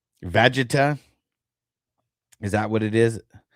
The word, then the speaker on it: Vegeta: I don't know if you know how to pronounce the name. Okay, so it's Vegeta. Is that what it is? Vegeta?